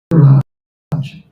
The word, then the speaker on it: Rasaraj: It is spelled as Rasraj. Rasaraj.